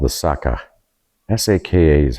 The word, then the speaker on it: Saka: So in the 3rd to 5th century BC, they say the people here were called the Saka. S-A-K-A is how they're pronouncing it.